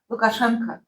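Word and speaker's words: Лукашенко: So all of this O, but we don't pronounce O. We pronounce it like reduced, and depending on the region, they have to be stretched toward A or toward or, but it's still reduced.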